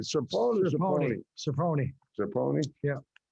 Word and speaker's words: Serpone: Serpone. Serpone? Yeah. It's like every time I guess without the E sound on the end, I'm wrong. Serpone. In Italian, the E is pronounced with an A.